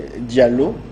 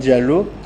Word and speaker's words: Diallo: In Niger, we say Diallo. My name is Diallo.